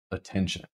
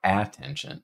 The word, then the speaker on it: attention: Attention. It's not attention, it's attention. So we're starting with a schwa here, and we get t, eh, mm, so a ten.